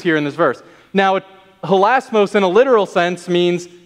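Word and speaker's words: ἱλασμός: be h-i-l-a-s-m-o-s that is the word for atonement in greek that's the word that john uses here in this verse now holasmos in a literal sense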